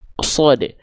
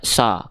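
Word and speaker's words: ص: Contohnya misalnya kita sebutkan huruf sod. Huruf sod. Huruf sod itu termasuk ke dalam huruf yang tebal. Ketika dia berharokat fathah, maka dia nggak dibaca sa ketika fathah, tapi dibacanya so. Condong pada vokal O.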